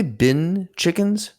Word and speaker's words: bin chicken: physical advantage there because it actually like pronounced that say bin chickens b-i-n bin bin chickens bean chickens have you not watched